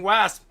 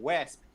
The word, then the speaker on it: wasp: short a is no the short a is correct when you were saying wesp that's why we were